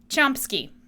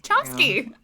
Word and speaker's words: Chomsky: Chomsky. Is it spelled with a P? Yes. So it's Oh, like yeah, chomp. There's a P.